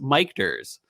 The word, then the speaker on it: Michter's: same time that's right it's pronounced mikers oh he didn't Michaels